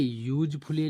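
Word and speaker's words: useful: पर यूजफुल लिखा है यू तो हमारा बना है य तो है तो वावेल लेकिन उच्चारण होगा य से यूज फुल अब हमारा य से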